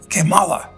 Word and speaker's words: Kamala: of them are correct it should be prounounced kimala which means in Spanish uh how bad how bad so maybe the us